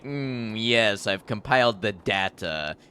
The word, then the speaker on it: Data: taken some concentration huh there is literally an episode where data explains to someone how to pronounce his name they ask what the difference is between data and data and he says one is my name the other is not it's always been data